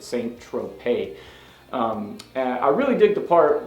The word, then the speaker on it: Saint-Tropez: it looks like it's it looks like Centro PES but in the song it he pronounces it saint-tropez I really dig the